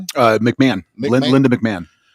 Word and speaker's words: McMahon: Uh McMahon, Linda McMahon is will begin the process of dismantling the education department after the Supreme Court wins.